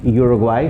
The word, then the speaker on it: Uruguay: go to the u the u has an u sound in spanish okay ooh as in ubus are grapes the country uruguay from where i am